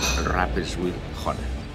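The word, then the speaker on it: Rapperswil-Jona: se llama rapw hona la pronunciación es rapers whel hona y ya llegamos a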